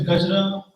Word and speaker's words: Gajra: my last name is gajra it often gets mispronounced in Germany because it's not why it's j so I just want